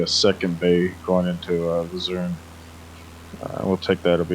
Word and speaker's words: Luzern: the town village of Luzerne, I believe it's called. Maybe you can correct me on the pronunciation. It's Luzern.